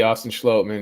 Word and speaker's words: Austin Schlottman: It will be Austin Schlottman. Yeah, I just very recently found out how to pronounce his name, so no worries there.